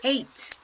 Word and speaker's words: ate: Eight. Eight. Like the number 8 is the same pronunciation, okay?